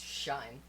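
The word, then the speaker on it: sinh: into hyperbolic trigonometry so the hyperbolic function of sine it's actually pronounced shine I don't understand either don't worry so the shine of X and that's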